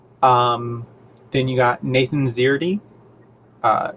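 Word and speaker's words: Szerdy: then you got nathan zierdy uh nathan spelled the normal way zirty s-z-e-r-d-y dot com he's got some really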